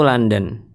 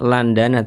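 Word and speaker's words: لندن: Zurtu London tulisannya Landana. Tapi bacanya London ditulisnya Landana. Nomor dua.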